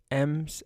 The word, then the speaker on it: em: have yet to cover M's and Rems it's spelled em but it's pronounced M as far as I